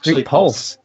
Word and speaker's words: Pxlse: Pxlse, P-X-L-S, Pulse.